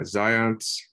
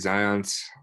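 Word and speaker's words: Zajonc: um first of all so um the correct pronunciation of the name is uh zions and so i've studied zion's um theories and studies for a while now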